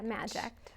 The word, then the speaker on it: MAJECT: Yeah, MAJECT. Oh, okay, like magic.